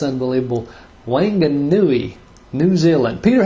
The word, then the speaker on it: Whanganui: Whanganui, New Zealand. Peter, how did I do on that pronunciation? Pretty good. Whanganui is the, I think, the proper pronunciation.